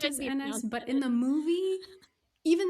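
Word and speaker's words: Ennis: And that was really frustrating for me because I was like, it's not enus. That's too close to penis.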